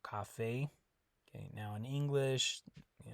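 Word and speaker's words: café: talked about in Spanish the E is never going to be silent okay it always makes the a sound so Cafe okay now in English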